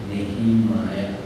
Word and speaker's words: Nehemiah: The way we pronounce should be Nehemiah. Nehemiah.